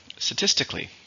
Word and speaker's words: statistically: And then we have statistically. Again, this is the same meaning, but it's an adverb. 4 syllables, stresses on the second. Statistically.